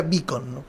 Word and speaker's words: Beacon: como el caso de Juan Pablo Beacon, vas a escuchar lo que se pronuncia Bicon.